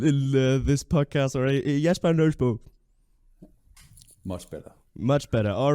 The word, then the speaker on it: Nøddesbo: Nøddesbo. If if you are a Dane, then you will like to say it like Nøddesbo.